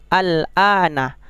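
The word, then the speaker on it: آلْآنَ: Ada lafaz setelahnya itu al-ana. Itulah yang menunjukkan itu mad lazim muhaffaf kilmi. Bagaimana cara membacanya? Panjangkan dulu alifnya, kemudian baru masuk ke lam, karena lam itu sukun.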